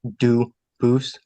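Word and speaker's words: Dubois: get your name straight I know a family with that the same exact spelling in American they do pronounce it dubis but you said you pronounce Ito as the original do Boose as the original French French yep very well Duo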